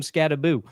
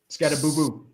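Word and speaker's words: Skattebo: The people talking to him were calling him Scataboo. Scataboo. Where's the other O?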